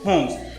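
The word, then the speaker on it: Holmes: हैं Oliver W होम्स, एल जो है वो साइलेंट है, ओलिवर डब्ल्यू होम्स।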